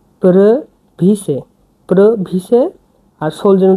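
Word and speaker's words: previše: yellow যে প্রবিশে সোলজেন এটা উচ্চারণ হচ্ছে পি আর ইভি আই এসই প্রভিস প্রভিস আর সোলজেন তো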